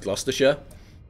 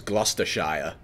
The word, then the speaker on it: Gloucestershire: of the Rings or something like so like Gloucestershire they would pronounce it as Gloucester Shire exactly the point I'm making I don't call